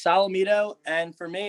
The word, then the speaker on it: Solometo: come from uh so it's pronounced salamido and for me it's